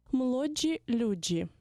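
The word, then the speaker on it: młodzi ludzie: Слово «молодь» польською мовою буде «молоджі люджі». Зверніть увагу на вимову і правопис цього словосполучення.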